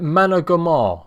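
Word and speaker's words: Managarmr: How do you say it? Managamar. Thank you, Shiny. I'll try and remember that, mate.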